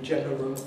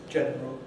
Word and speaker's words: general: Or general, can be general, but is usually general.